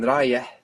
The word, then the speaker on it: رايح: We can remember that it has this H that we have in English, like in Harry, but in Rayeh, it's on the end.